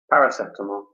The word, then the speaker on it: paracetamol: yes I took some paracetamol okay so that pronunciation is different to the Italian pronunciation could you repeat that for us yes paracetamol okay great so we've